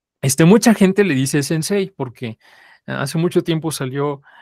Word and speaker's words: sensei: le decía su maestro sensei pero nosotros ya vimos que no se pronuncia así de hecho ya las